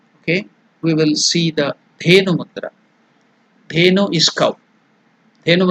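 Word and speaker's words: धेनु: The pronunciation is Da, Dha. Consonant. So it is Alpa Prana, Mahaprana. Less energy, more energy. So there is more energy. Mahaprana.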